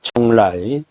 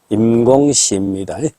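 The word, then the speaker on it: 邛崃: 총라. 우리식 발음으로는 임공시입니다.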